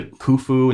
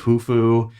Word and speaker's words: Khufu: the king chronicles stuff they usually leave the k as silent but he pronounced all the k's so like he called the khufu instead of hufu and kopach instead of